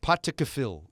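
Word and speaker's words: Pottaskefill: His patakafil is how you say it.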